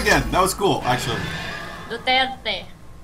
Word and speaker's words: Duterte: Duterte. There's, like, a rolling of an R in there somewhere that I can't do.